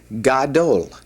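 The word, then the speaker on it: גדול: All right, the next word is for big, large, and great, and this is pronounced gadol. Gadol.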